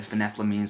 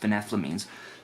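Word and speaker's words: phenethylamines: and i realized that last time i said finepla means i said phenethalam means or something that's not how it's pronounced it's pronounced phenethlamines and i actually have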